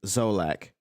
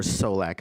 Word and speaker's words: Solak: this article um by Ben zolak or solak I think is how you say it uh rides for